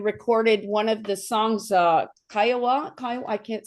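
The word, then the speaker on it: Kaiowas: Kaiovas.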